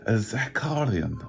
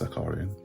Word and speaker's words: Zakharyan: by the name of zacalian i think it's known to pronounce zakarian and you know it's